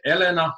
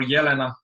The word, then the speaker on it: Elena: Is it Elena or Yelena? You can call me whatever you like. They both sound great.